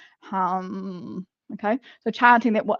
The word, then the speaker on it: ham: So the seed, or the mantra for this is ham. Okay, so pronounce hum.